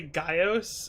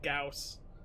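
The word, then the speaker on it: Gyaos: adult probably gaos yeah i used to say gaios instead of gauss yeah i used to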